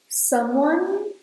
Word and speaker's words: someone: When you are pronouncing these two words, make sure you don't say the E. "Someone" ends at /n/.